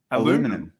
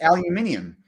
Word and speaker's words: aluminium: better than i can what does stacey say here aluminum that's what they say it's aluminium how do australians say that aluminium right you're like thanks